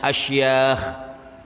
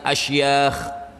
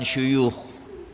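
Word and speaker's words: أشياخ: Ada yang bacanya asyakh. Ini beliau pakai kalimat af'al. Jadi bacanya beliau tuliskan asyakh bukan syukh.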